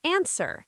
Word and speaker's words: answer: And answer. A ns w e r. Answer. No w sound.